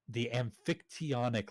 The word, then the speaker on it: Amphictyonic: Soon after that, he got the support of the Amphictyonic League. That's how it's pronounced.